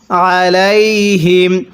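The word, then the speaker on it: عليهم: তাহলে উলাইকা, এরপরে আলাইহিম। কিভাবে পড়ব? আলাইহিম। এখানে এই আইনটা উচ্চারণের সময় গলার মধ্যে চাপ দিয়ে পড়লে আইনটা সহি শুদ্ধ উচ্চারণ হবে।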